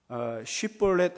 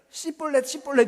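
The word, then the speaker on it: שִׁבֹּלֶת: 그런데 이 에브라임 사람들은 씨볼렛 이러는 거예요. 쉬하고 쌍쉬엇을 발음을 못해요. 그러니까 쉬 발음을 못하는 거예요.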